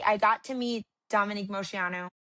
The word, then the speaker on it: Moceanu: Cuz I did get a see I got to meet Dominique Moceanu. Is that their last name, right? Yep. Moceanu. Yep, you said it right.